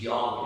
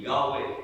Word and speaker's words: Yahweh: The correct pronunciation of the word Yahweh imitates and replicates breathing.